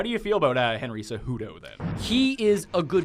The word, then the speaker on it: Cejudo: Well, the thing is, the J is pronounced like an H, but it's not. It's judo. See, I say Cejudo myself. You corrected me last time for saying Cejudo.